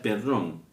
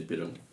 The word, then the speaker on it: Perón: apesido real real de Perón. Es interesante conocer el cómo cambia la pronunciación del apeido de perrón a perón.